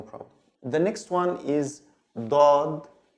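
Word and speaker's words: ضاد: It's also from the throat, like the D, but it's a strong D with open throat, like dod, dod, dod.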